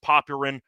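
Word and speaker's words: Popyrin: I know that it's technically pronounced Paparin, but he doesn't deserve that after what happened today uh yesterday.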